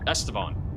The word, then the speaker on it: Estevan: A little lowering developing right now north of, I think it's Estevan. I keep saying it wrong. Estevan.